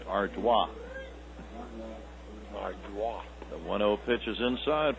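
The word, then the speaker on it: Ardoin: this is danny ardua a-r-d-o-i-n pronounced arduino the 1-0 pitch is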